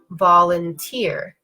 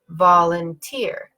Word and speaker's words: volunteer: syllable word we have the word volunteer volunteer you can hear in this word it kind of the first syllable is a stressed it technically this is called a secondary stress it means it's kind of stressful but it's not as powerful as a fully stressed syllable but work for the purposes we're gonna consider it stressed so when I say volunteer I'm going up down up so I can hear